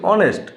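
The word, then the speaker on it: honest: ভালো করে লক্ষ্য করুন এখানে এইচ এর উচ্চারণ নেই অনেস্ট এইচ ও এস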